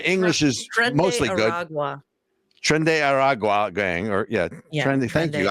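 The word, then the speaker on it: Tren de Aragua: Trend de Aragua gang, or Trend. Thank you. I would have butchered that, but so they are taking over a town.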